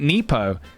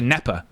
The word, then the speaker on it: nepo: lot of uh I've you've been pronouncing it nepo. I guess I say nepo cuz it's like nepotism. Should be neper. Nepa baby. Maybe it's just neper.